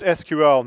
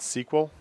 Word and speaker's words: SQL: query language SQL and it's an initialism not an acronym in other words you pronounced you say the letters you don't pronounce the word so it's SQL not sequel it pisses me off